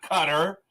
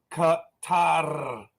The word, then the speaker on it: Qatar: anyone from over there it's not cutter it is Qatar and if you really want to pronounce it correctly it's Katara something like that I I apologize it's